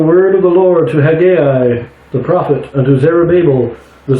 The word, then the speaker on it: Haggai: turn to Hai some most people pronounce it Hagi but I'm pretty sure it's supposed to be Hai so that's how I'm pronouncing this is chapter one